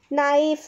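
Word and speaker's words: knife: नी, नाइफ, नॉट, नो, तो के common है, ये के साइलेंट होता है इन सब में, ये बात इसमें कॉमन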